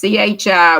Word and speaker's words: chi: i guess this is chi which is pronounced with the hard ch like the k in the latin alphabet okay the greek key